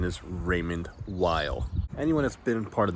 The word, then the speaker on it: Raymond Weil: Raymond wheel so yes I know the proper pronunciation is Raymond Weil anyone that's been part of this channel knows that I say things the way I want to say it so I say Raymond wheel get over it back to the show before